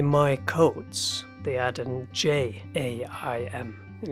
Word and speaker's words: jaim: But if you want to say my coats, they add an J-A-I-M, and it's pronounced in Hungarian as jaim, because the J is pronounced as a Y.